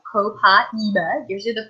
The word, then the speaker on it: Copaiba: And it's actually pronounced Copaiba.